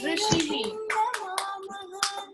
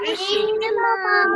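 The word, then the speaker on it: ऋषि: Rishihi. So there's 2 ways of saying the word rishi. Rishi and rishi.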